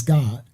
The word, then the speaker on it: Gad: No, so Gad, the actual tribe of Gad is not Gad, it's God. Because there is no ad sound in Habariya Hebrew. So it will be Gayad, the tribe of God.